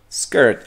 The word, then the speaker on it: skirt: Ojo, las palabras que empiezan con S en inglés, como esta, y cualquier otra que empiece como S y que tenga una consonante después de la S, se pronuncia skirt. O sea, es la S como viborita.